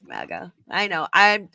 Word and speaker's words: MAGA: And don't hate on me that, because I'm not a mega person. I'm Canadian. So don't even go there. I can tell you're Canadian by how you pronounce MAGA.